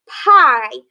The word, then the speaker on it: pie: That means that the second one is going to be silent and the first one's going to be long. Like in this word, pie.